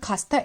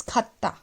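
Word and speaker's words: 갔다: Khastha, it's not khasta, it's khatta. Khatta, why khatta? Because see the rule. Double jiot, so the sound is thiyat only. Okay, so double jiot, final consonant of this syllable, so it will sound like d only, the tha only.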